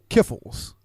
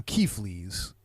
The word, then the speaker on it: Kiffles: Have you guys ever heard of Kiffles? No. So my family calls them Keeflies. Okay. There's a bunch of there's like Keffels, there's Kiffles. It's just a bunch of anglicized pronunciations of an old Slovakian nut roll cookie.